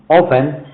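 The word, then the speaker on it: often: इसके बाद ही ऑफन ही ऑफेन shouted and spokes rudely. देखिए यहां पर जो है टी है। टी साइलेंट है। क्या है? T silent. तो कैसे हम पढ़ेंगे? ऑफेन पढ़ेंगे। ऑब्टेन नहीं पढ़ेंगे।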